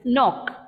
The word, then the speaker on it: knock: My word is starting with a K. So I would assume the word or pronunciation also starts with a K, but it's starting with a N sound. It's knock. Not. Knowledge, right? So all the K, N gives you the N sound.